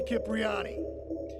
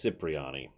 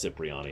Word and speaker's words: Cipriani: nobody messes with Tony Capriati yeah bye that's actually supposed to be pronounced Cipriani the actor himself says it's Cipriani and other cutscenes so